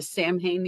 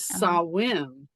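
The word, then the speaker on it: Samhain: in that the language the Sam hanne you were talking about earlier that they just found out that the way to pronouncing is saim um which really shows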